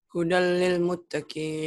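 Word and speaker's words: هُدًى لِلْمُتَّقِينَ: Tanwinnya melebur ke L. Hudal. Tuh. Hudal lil mutakin. Baca. Hudal. Hudal lil muttaqin.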